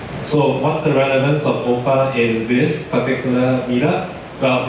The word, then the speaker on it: OPA: You see this OPA is actually pronounced as OPA.